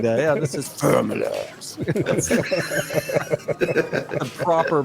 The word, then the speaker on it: Ferommalaars: Yeah, this is Faramallars. The proper pronunciation.